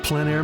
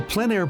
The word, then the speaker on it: plein air: This is the Plein Air Podcast with Rhoads, publisher and founder of Plein Air Magazine. In the Plein Air Podcast, we cover the world of outdoor painting.